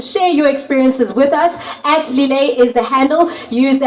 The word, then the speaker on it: Lillet: @Lillet is the handle. Use the hashtag LilletSA and hashtag it's pronounced Lillet.